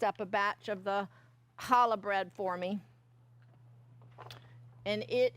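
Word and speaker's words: challah: So there is a recipe in your handout for hala bread. You're going to say it right. You got to hawk up a furball.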